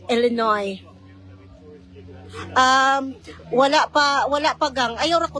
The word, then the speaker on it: Illinois: si carmel sa na watching from Illinois ang pagpronounce Illinoy wala pa wala pa gange wala pa kay